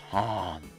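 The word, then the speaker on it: Hahn: we my name is Han what you don't need extra H but whatever or is it I guess the H is silent even if it wasn't you're still just going to say Han I'm insisting that dis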